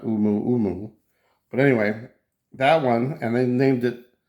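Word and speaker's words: ʻOumuamua: I mean, the pronunciation, everybody pronounces it different, but I think it's supposed to be Oumuamua, not Umu.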